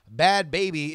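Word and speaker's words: Bhad Bhabie: If you're trying to Google this because you're listening on audio only, please point of fact, Bad Baby is spelled BHADBHABIE.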